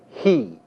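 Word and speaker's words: הִיא: The masculine singular form that translates that is pronounced hu, and the feminine singular form that is pronounced he.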